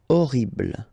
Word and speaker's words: horrible: Okay, remember we don't pronounce H here. Horrible.